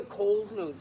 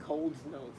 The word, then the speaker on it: Coles Notes: You used to say like Coles Notes. Like you added a D in it. Coles, C-O-L-E.